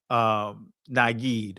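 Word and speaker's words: נגיד: But anyway, this right here will be pronounced with an E, so to be Nagid.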